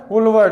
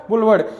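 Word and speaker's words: boulevard: बुलवर्ड। आपका pronunciation भी सही होना चाहिए। बुलवर्ड। क्या बोला जाता है? बुलवर्ड। यानी कि एक लंबी रोड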